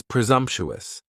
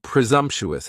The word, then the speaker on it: presumptuous: Next is presumptuous, and presumptuous has 4 syllables, and the stress is on that second syllable, and the S almost sounds a little more like a Z.